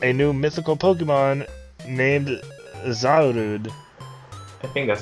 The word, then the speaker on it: Zarude: Next story is we got a new mythical Pokemon named Zarude. I think that's how you pronounce it. Yeah, I'm trying to... I mean, in Japanese it's Zarudo, so...